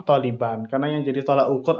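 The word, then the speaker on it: طالبًا: Bukan talibin, tapi taliban.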